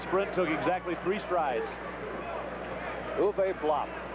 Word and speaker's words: Uwe: took exactly three strides uve blop his first name is spelled UWE pronounced U his last name BL B pronounced blop he is 7 to